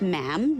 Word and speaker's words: ma'am: For instance, when you're addressing the Queen, she is Her Majesty, and after that, it's just ma'am, rhymes with jam.